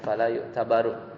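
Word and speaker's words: فلا يعتبر: Bacanya fala yu'tabaru, majhul.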